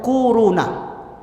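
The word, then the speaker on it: كورونا: Bacanya tuh kuruna.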